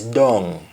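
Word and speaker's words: dung: it in speeches and the jamaican equivalent of the preposition down is dong dong mostly spelled as d-u-n-g-dong and and the example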